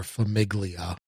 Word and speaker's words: Famiglia: by freedom and freeze called Familia or Famiglia if you want to say it how it's spelled but it's uh a